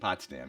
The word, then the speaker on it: Potsdam: That's how you pronounce it? Potsdam, yeah.